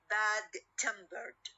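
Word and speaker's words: bad-tempered: at the end okay we will have uh the stress on the second part or the second word for example when i say bad tempered bad tempered or heavy-handed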